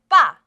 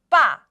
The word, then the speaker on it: 빠: The first syllable we are going to write is 빠. 빠.